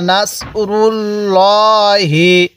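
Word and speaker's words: نَصْرُ ٱللَّٰهِ: এরপরে আমার সাথে পড়ুন নাসরুল্লাহি হ্যাঁ পড়ুন নাসরুল্লাহি আরেকবার বলুন নাসরুল্লাহি তাহলে এবার মিলায় পড়ুন নাসরুল্লাহি হামজা এর মধ্যে টান দিব না এরপরে ওয়াল ফাত আমার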